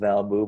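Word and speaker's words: valb00: Twitter Twitter handle it's Val boo which is spelled v-a-l-b double zero but it's pronounced valbu by my friends and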